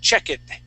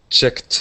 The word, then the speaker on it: checked: checked you would said check it checked okay yeah so remember if it ends with that k sound that is checked okay um um the